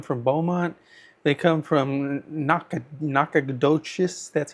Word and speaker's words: Nacogdoches: People, they've come from Austin, they come from Corpus Christi, they come from Beaumont, they come from Nacogdoches, that's how you pronounce it.